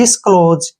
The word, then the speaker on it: disclose: हमारा ओ की मात्रा, और एस का जो उच्चारण करेंगे हम यहाँ पर जय के रूप में करेंगे, और ई को छोड़ देंगे। डिस्क्लोज, क्या पढ़ेंगे इसको?